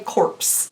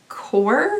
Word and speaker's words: Corps: pronounce this word because I really want to say corpse, like as in a corpse. But no, I think it's actually supposed to be core.